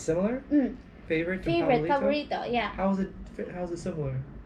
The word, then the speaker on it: paborito: For me, it's similar. Like favorite, paborito. And we use P. We don't usually have F. So, yeah. Okay. Yeah, sometimes you hear us. So paborito is really favorito? Paborito. But do you spell with the F? P. P, okay. Yeah. But our sound, sometimes we say, oh, why you, instead of finish, you say finish? Because Cebuano, we use P instead of F.